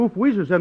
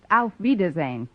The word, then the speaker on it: Auf Wiedersehen: Actually, the word you have in mind is pronounced Auf Wiedersehen.